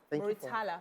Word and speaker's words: Murtala: Ayo Murtala. Please give me the right pronunciation.